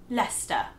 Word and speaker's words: Leicester: So the correct way to pronounce this word in British English is Leicester.